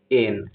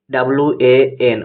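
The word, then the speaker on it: one: এখানে দেখো ওয়ান শব্দের প্রোনাউন্সিয়েশন করলে দেখা যাবে ওয়ান শব্দটি WAN, ওয়ান, WAN, ওয়ান দিয়ে আসছে, যা কনসোনেন্ট সাউন্ড দিচ্ছে, তাই ওয়ান আইড এর আগে আর্টিকেল এ বসবে।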